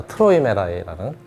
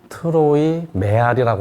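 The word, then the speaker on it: Träumerei: 아마이 곡은 익숙하실 겁니다 트로이메라이는 예 트로이 메리라고 하는 사람이 많아요 발음 정확히 하셔야 돼요 트로이 메라이 메아리 하고는 상관없어요네 이분 머리 이렇게 예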